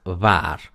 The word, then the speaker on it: waar: Porque es una sola sílaba, yo no puedo separar va-ar. Se dice var. Un sonido, ya está, waar. Entonces, para que uno sepa cómo pronunciarlo, se escribe con dos As. Eso indica que la A es larga, la pronunciación es A.